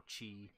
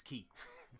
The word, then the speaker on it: Qi: mean the pronunciation of it as Ki or Chi it says here this pronunciation is chi but no it's key you it means life force